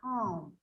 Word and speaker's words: calm: say that is silent it is said that is silent because we don't say we say calm yes but my tongue is rolling back in